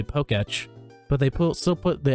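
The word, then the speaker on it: Pokétch: Have you not obtained the Poketch? Technically, wouldn't that be pronounced like Pokeech? Because the E still has the accent on it? Am I wrong? I'm pretty sure I'm right.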